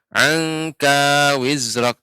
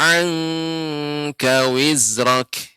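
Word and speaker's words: عَنْكَ وِزْرَكَ: Tadi Nek membacanya angka wizrak. Seharusnya agak lebih lama, Nek, diberi ikhfa. Ikhfa ini dipanjangkan juga disertai dengan gunnahnya.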